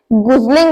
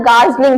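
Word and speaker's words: gosling: Pronunciation different है, सो इसे गुजलिंग नहीं बोलना, गार्जलिंग बोलना है, गार्जलिंग, चाहे यहाँ पर ओ लगा हुआ है।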